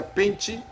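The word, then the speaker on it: πέντε: grego que é pente em grego se pronuncia pente que significa cinco elementos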